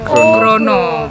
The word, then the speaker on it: grana: Jawabannya adalah tulisannya grana, bacanya grono.